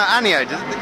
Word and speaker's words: Aniode: No, Aniode.